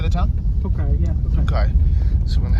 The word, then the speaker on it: Tokaj: Tokaj, yeah.